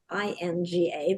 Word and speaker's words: Laninga: you, or Angela Laninga, but it's Laninga. That second N is silent.